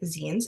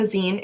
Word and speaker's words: zine: So a zine, it is pronounced zine and not zine, is short for magazine or sometimes like a fanzine.